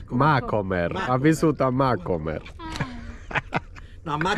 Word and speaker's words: Macomer: no, come si pronuncia? Macomer.